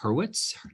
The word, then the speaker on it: Hurwitz: And today I am happy to be joined by Hurwitz.